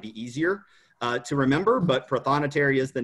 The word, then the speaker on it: prothonotary: What is a prothonotary? How do you even say that word? Prothonotary is how I have always learned it, Katie. But I think another pronunciation for that is actually prothonotary, and if you break